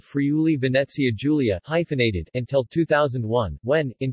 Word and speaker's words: Friuli-Venezia Giulia: Friuli-Venezia Giulia, pronounced Friuli-Venezia Giulia, is one of the 20 regions of Italy, and one of 5 autonomous regions with special statute.